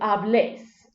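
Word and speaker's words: hablés: vos instead of two an accent is added onto that e transforming that word from hables to ablaze placing that accent on that last vowel similar modifications are made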